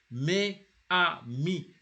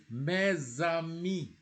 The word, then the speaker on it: mes amis: You see, you have to join. You can never say mes amis. You have mes amis. It is mandatory.